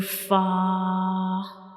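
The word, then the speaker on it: ف: And when we pronounce fa the edges of the upper front teeth will touch the inner side of the lower lip. So this is the origin of fa.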